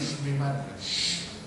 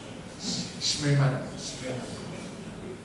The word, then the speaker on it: Schmemann: Bacanya ini Schmemann. Oh ini SCH itu bacanya kayak syukur. Schmemann.